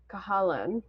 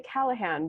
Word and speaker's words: Cahalan: Yeah, The Great Pretender by Susanna Cahalan. So yeah, she has, I want to say Callahan, but it's spelled oppositely.